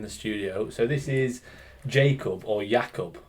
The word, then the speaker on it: Jakub: to more common you when you introduced yourself to me you said Jacob so called you Jacob ever since but then I on your Instagram it is ycob like I would pronounce it ycob seeing your name yeah but because you introduce yourself as Jacob it's like oh it's Jacob yeah yeah exactly so